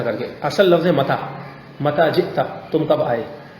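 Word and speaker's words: متى: اب متا کو بعض اہل عرب بگاڑ کر یوں کہتے ہیں لہجے میں ایم تھا. کیا, اب ہم نے تو متا پڑھا ہے تو یوں کر کے بگاڑ دیں ایم تھا.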